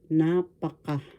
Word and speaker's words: napaka: Napaka first syllable na, second syllable pa third syllable ka. The accent is in the first syllable. Napaka or too much.